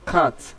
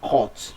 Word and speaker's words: cat: The option A is pronounced as cat, not cut, not or is cat.